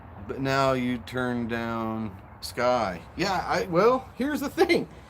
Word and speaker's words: Skye: I decided I would get, my daughter's name is Skye, S-K-Y-E, but you pronounce it Sky.